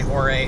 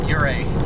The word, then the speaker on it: Ouray: Ure from other people but the vast majority say oray and that's what I opted to go with just uh testimony that the majority is not always right so henceforth I will strive to pronounce this correctly um fighting a incorrect habit and so I will try to call it uray going forward and really